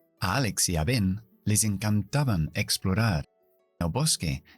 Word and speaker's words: Ben: Ben, B-E-N, sé pronunciarlo porque es una sílaba cerrada. Significa que después de la vocal E hay una N que cierra la sílaba. Por lo tanto, la vocal tiene que ser corta. Y la E corta, E, Ben.